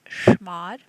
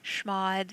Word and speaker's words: chmod: changing file permissions is we can use schmod that's spelled c h m o d and we can do it using octal number so shmod 7 4 4 and